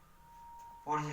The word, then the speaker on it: Wurtz: ऊर्ज reaction, ऊर्ज reaction की spelling होती है WURTZ, ऊर्ज रिएक्शन बोलते हैं।